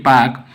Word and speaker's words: Palk: इसकी स्पेलिंग है PALK, पाक।